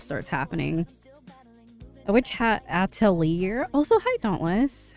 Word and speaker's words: Atelier: A Witch Hat Atelier.